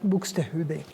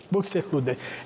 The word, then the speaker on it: Buxtehude: Entonces, bueno, imagínense la veneración que le tenía este gran maestro bien pronunciado, Buxtehude. Buxtehude.